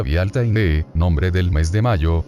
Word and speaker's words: Bealtaine: la palabra gaélica irlandesa actual Bealtaine, que se pronuncia Bealtaine, nombre del mes de mayo, y a la palabra gaélico-escocesa Bealtuin, pronunciado Bealtaine, que significa 1 de mayo.